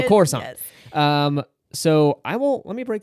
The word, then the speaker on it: Coruscant: I was like, no, the C is just pronounced S. So Coruscant.